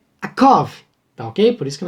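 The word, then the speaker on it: יעקב: Já o substantivo calcanhar leria-se akev, E o nome de Jacó lê-se Yaakov, tá ok?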